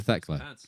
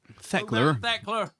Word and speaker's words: Thekla: Go back to Thekla. Go back to Thekla. These pants right now. You've got to spell it with an ER if you're going to say it like that. Go back to Thekla. Thekler.